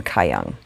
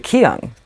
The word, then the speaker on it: Kyung: and in Ireland, and pronounce my name Kayang. And I guess if you download the UK like version of Siri, like it will pronounce it as Kayang. But if you download the American version of Siri, instead of the English version, it comes out, she says it Kyung, the way I pronounce it.